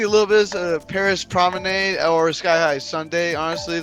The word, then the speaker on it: Promenade: It's Promenade. Promenade. Bro, Promenade. we had Promenade. this discussion. It's not marmalade. It's Promenade. Promenade. You don't say lemonade Hey.